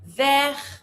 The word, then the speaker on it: vert: Rouge, bleu, jaune, vert, don't pronounce the T.